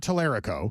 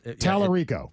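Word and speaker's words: Talarico: Ter, not Tallerico. It's Terico.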